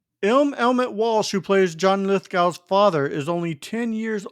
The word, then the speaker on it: Lithgow: It's actually pronounced Lithgow.